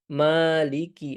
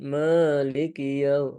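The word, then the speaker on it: مَالِكِ: Jangan ana dengarnya antum lebih ke maiki yaumiddin. Agak mengarah ke huruf E tadi ya. Hati-hati. Maka lebih disempurnakan lagi pengucapan ee harakat fathahnya. Maliki. Ma ma bukan maiki maiki yaumiddin.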